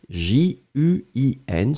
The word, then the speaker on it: juin: Donc, juin, on l'écrit J-U-I-N, souvenez-vous, nasal, pas de N prononcé, juin, d'accord.